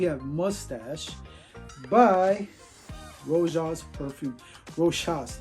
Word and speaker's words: Rochas: Rochas, not Rojas, Rochas.